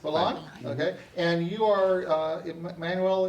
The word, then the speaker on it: Balin: And so this is our second show segment, and I have as my guest this half hour, Emmanuel Balin. Am I pronouncing that correct? Balin.